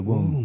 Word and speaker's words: womb: The womb. Tomb rhymes with womb.